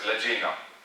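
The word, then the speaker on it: lagena: Now here, this pointed tip will be known as ladina, or it is pronounced as lagina.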